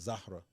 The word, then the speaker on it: Zahra: Um so my wife Zarah, like I told you, her real name, the way you pronounce it is Zahra. That's Arabic, right? But her parents call her Zara.